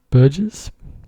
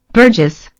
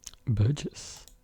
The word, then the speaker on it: burgess: each man of them appeared a proper burgers burges to sit in guild hall. How do you pronounce it? I've got to know. I've got to know pronounce. How do you pronounce it? Burgess. Burgess.